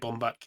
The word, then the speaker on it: Baumbach: Is it Baumbach? Is that how you say his name? Yeah, that's how I'd say it. Bomb back.